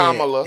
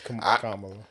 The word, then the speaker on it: Kamala: Let me get your name right, because the way she whooped him in the debate, It's Kamala. I said that right. But Yeah, the yeah. serious I said it right. No, because somebody said something to me on last time Kamala. That I said her name wrong. that we in Kamala. general was saying it, but